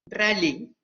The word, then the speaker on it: Ralli: ¿Es Rally o Rally, Teresa? Rally. Rally. Pero se escribe Rally.